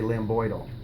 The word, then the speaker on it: lambdoid: you should be saying lambdoid ille but D is silent you just say Lam boydle so this is the lamb boy suture or